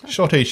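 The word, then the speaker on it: schottische: the leo's prince of wales shotish nicely done shotish is spelt awkwardly if you're looking for shadish on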